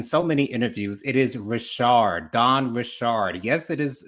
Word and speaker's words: Richard: Um, we had Don Rashard and I hate that people keep on saying Richard when it's she's said it in so many interviews. It is Rashard.